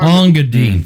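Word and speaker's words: Engadine: Ongadine, thank you. That's how it's pronounced.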